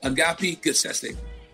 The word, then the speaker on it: Agapi Gessesse: to introduce to the morning detail and welcome agape good session thank you you said it right you know